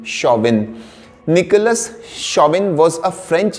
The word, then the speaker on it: Chauvin: Nicholas c h a u v i n shawvin Nicholas shabin was a French General in the